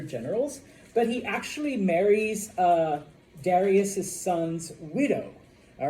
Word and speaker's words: Darius: Some people pronounce it Darius, okay? I go with Darius.